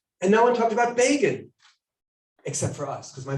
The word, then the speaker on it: Begin: great moment would explain bacon rhymes with fagin right because no one knew how b-e-g-i-n should begin right and i grew up